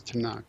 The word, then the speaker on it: Tanakh: Nevi'im and Ketuvim and so tunak tunak turns up just being pronounced as tunak so that just refers